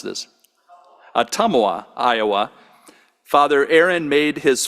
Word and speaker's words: Ottumwa: Born in Ottawa, Iowa, okay, now you got to tell me how to pronounce this. Ottumwa, Iowa, Father Aaron made his final oath with